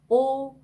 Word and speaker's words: odieux: odieux 이렇게 발음합니다. 여기도 으가 나왔죠. 입술 모양을 오 한 상태에서 에 발음을 하는 거죠. 그래서 odieux, odieux 이렇게 발음을 하고요.